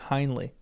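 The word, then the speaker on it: Hindley: The Victorian pronunciation when Bronte wrote it uses a long I for Henley, not a short Iley. Okay. Hinley.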